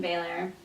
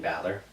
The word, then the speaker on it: Balor: be winning this no I thought Finn Baylor Finn Balor see I can't say his name right Balor Finn Balor I